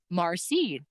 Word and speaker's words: merci: a guy thanks me, Marcy, not merci, Marcy. And I'm like, I've only ever heard Métis people use that pronunciation.